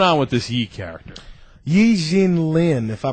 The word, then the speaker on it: Yi Jianlian: Yin Lynn, if I pronounce his name right, he was drafted by the Milwaukee Bucks in the NBA draft.